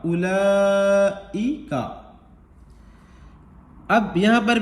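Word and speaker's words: أُولَٰئِكَ: अब अगर काफ पर आपको रुकना है, वक्फ करना है, ठहरना है, सांस तोड़नी है, तो काफ ज़बर का को कायदे के मुताबिक काफ साकिन करके पढ़ देंगे। उलाइक, उलाइक, ठीक।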